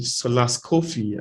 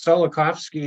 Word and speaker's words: Solakovsky: I'll be introducing Solas Kofi I'm sorry if I'm not pronouncing that correctly uh you can it's solakovsky you said it very well yeah no so my